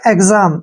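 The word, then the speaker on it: exam: हुआ है नेक्स्ट है ई एक्स ए एम इसको हम पढ़ते हैं एग्जाम यहां पर एक्स का उच्चारण ग और ज के रूप में हुआ है ऐसा क्यों होता है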